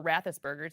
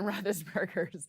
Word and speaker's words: Roethlisberger: been rathus Ben Roethlisberger's or rathus burgers if you want to mispronounce it Ben Roethlisberger's home and road splits